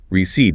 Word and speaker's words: receipt: Receipt. Receipt. No P sound. Instructions for cooking. Recipe. R E S I P. So receipt then recipe. That silent P and receipt always gets people.